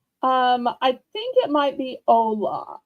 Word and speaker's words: hola: I don't think that's holla. I think it might be hola. I'm pretty sure in Spanish the H is silent, Hmm.